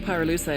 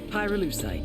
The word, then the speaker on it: pyrolusite: him you know what pyroluside is right yeah neither did i hyruleusite key syllable pyro by the way is